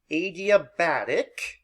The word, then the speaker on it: adiabatic: This is pronounced adiabatic.